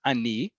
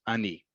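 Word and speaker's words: אני: hoping it's at least the very first word Ani I know this is pronounced Ani because there is no other word in Hebrew that's spelled alef noon and it's pronounced Ani there is a word that sounds similar Ani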